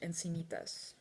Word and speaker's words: Encinitas: Carolina Millan here, reporting live from Encinitas in California, or as I would say in Spanish, Encinitas. That's the actual pronunciation.